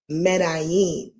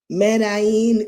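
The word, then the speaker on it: Medellín: I definitely knew that the L's probably had a different sound due to the, what is that, an asterisk or something?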